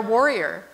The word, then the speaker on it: Warrior: same thing in India it's phonetically the same as the English word Warrior but it's very convenient